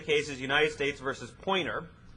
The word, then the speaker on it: Poynter: The name of the case is United States versus Poynter, and God forbid you phonetically spell. It's Poynter, out of the Sixth Circuit.